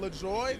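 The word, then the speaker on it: LaJoie: cut a tire down la joy that's really how you say his name that's not what that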